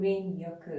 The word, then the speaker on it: Shinrin-yoku: Shinrin-yoku? Shinrin-yoku.